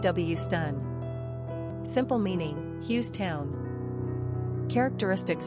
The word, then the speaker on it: Houston: Pronunciation, Hewstun.